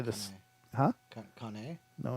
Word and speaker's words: Caen: Caen? No, it's Caen.